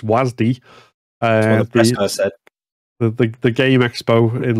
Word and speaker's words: W.A.S.D: april in london's tobacco dock uh the well wasd which we had been pronouncing was but apparently is officially pronounced wasde um the game expo in london which um